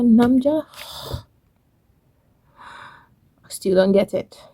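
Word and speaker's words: 남자: But Korean is gamja, namja. I still don't get it. Make sure you pronounce the gamja when you want to say potato, or namja when you want to refer to a man.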